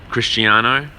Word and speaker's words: Cristiano: man is it Christ crisano how do you pronounce it bro Cristiano all I know the I the last name's